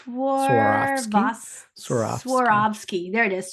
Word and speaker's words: Swarovski: pronounce it. I just know it has like a swan or something. It's Swarovski?